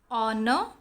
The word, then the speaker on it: honor: Honest, honor, are, air. In these words, H is silent.